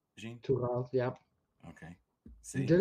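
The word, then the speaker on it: Tuğal: Tugal, yep.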